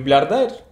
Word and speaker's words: bilhardeiro: E havia outra palavra muito madeirense, que também tem essa particularidade. Sim, uma palavra também exclusivamente madeirense, bilhardeiro. Em que, pronto, nós temos bilhardeiro.